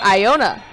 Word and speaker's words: Iona: in drawing fouls and Iona my apologies for mispronouncing her name AI why a and a pronounced Iona Gilyard at the line with